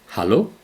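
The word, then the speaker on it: Hallo: हालो हालो, अङ्ग्रेजीमा हेलो भने जस्तै।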